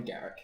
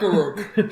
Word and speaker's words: Garruk: It's definitely Garrick. Garruk. Garuk. Sounds cool, though. not Garuk.